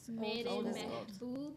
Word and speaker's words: Mehboob: What does Mehboob mean?